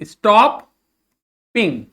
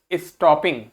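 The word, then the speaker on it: stopping: And then there was नो, तो क्या पढ़ेंगे, सॉरी सॉरी, क्या लिखा है ये, स्टॉप पिंग, मैंने आपको बताया डबल पी को नहीं प्रोनाउंस करते, क्या बोलेंगे, स्टॉपिंग।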